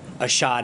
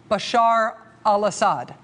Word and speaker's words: Bashar al-Assad: that ashad is doing ashad that's one of his attempts today to say Bashar al-assad that was one of his tries here's another try no